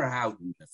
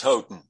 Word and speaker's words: Houghton: change that is it houghton mifflin or howden it's houghton i i just like to say howden mifflin is that well